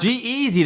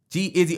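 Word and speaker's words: G-Eazy: "Oh, that Mark G Easy though. What you talking about?" G Easy though. Gez redid the um Damn, I'm actually saying his name wrong. G Izzy.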